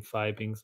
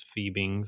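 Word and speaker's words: Fiebing's: And I'm I'll be using Fibbeings leather dye. I think I've been pronouncing it wrong this whole time. I think it's feebings, actually.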